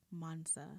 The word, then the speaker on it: Mansa: of the i'm going to say this wrong monsa hey i said it right monster wealth app